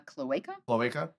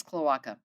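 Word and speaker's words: cloaca: you say this uh I believe it's uh CLA CLA I yeah yeah I don't think it's Kaka pretty sure it's CLA CLA and then they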